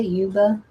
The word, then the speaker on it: Yuba: of the Is it Uba City, California? Is it Uba? Yuba? I think it's Uba. I don't think the Y is pronounced.